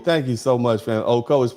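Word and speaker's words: Ocoee: Um okoi uh thank you so oki. Thank you so much fam. Oko, it's pronounced Okcoi, Florida.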